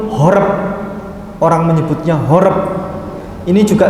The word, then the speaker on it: Horeb: Kalau bahasa Arabnya disamakan haroba. Ini sama bacanya haroba. Kalau tanpa nikut. Kalau dengan nikut horeb.